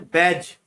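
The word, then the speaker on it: badge: Seventh में बैज, इसमें D silent रहता है।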